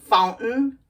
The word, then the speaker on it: fountain: the tea and we just say curtain curtain Fountain fountain or mountain mountain got it let's review